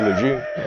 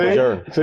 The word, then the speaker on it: Lejeune: So he pronounced Camp Lejeune right. In Texas, we say Lejeune. Most Marines don't say it right. But you said it right, Camp Lejeune. You said it correctly.